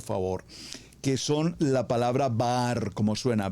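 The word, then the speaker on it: בר: Los dejo como tarea, usted estúdielas, por favor, que son la palabra bar, como suena, B larga, B labial, A-A-R, bar.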